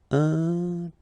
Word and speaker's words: intelligent: Final T not pronounced, so G-E-N, Jean, okay? Intelligent.